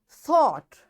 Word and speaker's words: thought: And the next rule for silent G is in GH, G is not pronounced when it comes after a vowel.